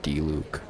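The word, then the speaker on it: Diluc: I just said Luke because there's a character in Genchin Impact named Dluke. It's spelled like that with D I L U C.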